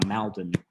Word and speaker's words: Malden: hamlet in saugerties and i i i'm saying it correctly now maldon uh it's spelled malden if you're from jersey it's malden um with a w uh i'm from jersey